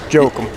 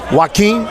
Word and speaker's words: Joaquin: Jokum. Ronald Jokum. Now, some dude told me the name was Joaquin. No. I know, but he said the J is a W.